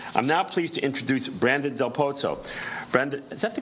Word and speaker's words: Brandon Del Pozo: I'm now pleased to introduce Brandon Del Pozo. Brandon, is that the correct pronunciation?